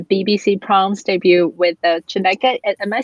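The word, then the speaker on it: Chineke!: And then we know that you recently made your BBC Proms debut with the Chineke. Am I saying it right? The orchestra's name? Chineke.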